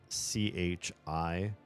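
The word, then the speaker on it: 吃: yeah so for example there's a sound that in Mandarin that's it's like Chi but it's all done with your tongue flipped upward so it's almost touching the roof of your mouth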